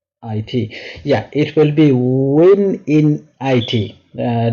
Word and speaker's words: wininit: be see how easy it is to uh misspell it when I N it yeah it will be win in it uh w i n i nit um so